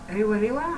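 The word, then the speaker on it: rewarewa: Not rewa, not like the bread, but rewa rewa.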